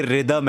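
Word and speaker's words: rhythm: तो जरूर पूछा है की जब बोलते रिदम है तो रिदम क्यों लिखने हैं जैसे रितिक रोशन है ना की उसमें हा जो है वो साइलेंट है वैसे ही रम उसमें वो हा जो है वो साइलेंट होता है तो इसलिए वो रिदम हो जाता है मेरे हिसाब से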